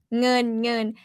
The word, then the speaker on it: เงิน: Yeah, เงิน ng สาว งองูสาว ng. Yeah, sing, that's ng sound. ng. เงิน vowel เงิน with n sound at the end. เงิน is money.